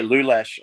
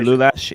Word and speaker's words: Lulash: Yeah, Lulash. I was actually getting the pronunciation wrong. Joey Lulash. He said John Bateman.